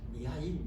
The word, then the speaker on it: 미하일: 이 사람이 누구냐면은 미하엘이라고 하는 사람인데, 미하엘이 원래 발음이 뭐냐? 미카엘이에요. 미카엘의 러시아 발음을 미하일 이렇게 해요.